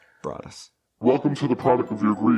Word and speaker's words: Broaddus: too broad as family now you notice how it's spelt that is intentional it's spelled b-r-a-d-d-u-s brought us welcome to the product